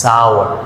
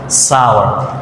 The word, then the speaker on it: sour: সাওয়ার অর্থাৎ আরের উচ্চারণটা তেমনভাবে হয় না, সাওয়ার।